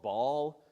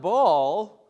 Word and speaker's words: Baal: She worshipped or would have worshipped a god called Baal. Maybe some of you know, actually it's properly pronounced Baal, but we won't get into what a glottal stop is. This god Baal was worshipped for, hundreds and thousands of years.